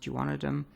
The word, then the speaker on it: duodenum: of the small intestine called the duodenum sometimes pronounced juanitam it's just the first